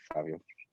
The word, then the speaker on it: Fivio: I think my favorite so far is Spicy, with A$AP Ferg and Fabio. Fabio? I keep hearing people say Fabio, but it's spelled like Fivio.